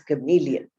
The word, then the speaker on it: chameleon: Now you can see how the word chameleon is pronounced. Very important to get it correctly as chameleon.